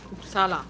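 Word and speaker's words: Uppsala: Upsala heißt das, wird das eigentlich ausgesprochen.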